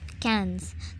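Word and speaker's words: quinze: So it is pronounced as cans.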